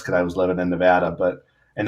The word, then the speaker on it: Nevada: i was living in nevada but and that's how you say it by the way it's nevada not nevada reno's fun yeah not